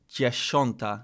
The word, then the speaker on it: dziesiąta: I think the current issue, it's still the SI versus the SZ on some of the pronunciation.